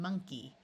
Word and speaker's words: monkey: In these three words, the O is going to schwa and sound like a short U. So we have money, honey, and monkey.